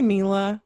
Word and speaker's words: Mela: Mela, M-E-L, like melanin. So Mela like dash melanin. Vision. I say Mila.